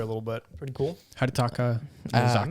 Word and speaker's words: Hidetaka: Hidetaki? Where's it at? Hidetaki? I'm so trying to find it. Hidetaki. Right here. His name kind of rhymes there a little bit. Pretty cool. Hidetaka Miyazaki.